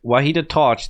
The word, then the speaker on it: وحید تاج: I think people told me I said his name wrong. So that's why I'm confused. But Vahid Taj, that's what she actually said right here.